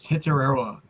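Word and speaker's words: Tetairoa: Wow, they do have some hard to pronounce draft picks, I'll tell you what, but I just pulled it up. It's Tetaroa.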